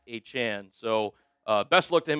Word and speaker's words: Etienne: Full disclosure, I did not know that Travis Etienne pronounced his name as Travis Achan.